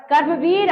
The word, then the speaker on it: कर्मवीर: ठीक, क्रमवीर नहीं बच्चों, कर्मवीर। उच्चारण शुद्ध कीजिए।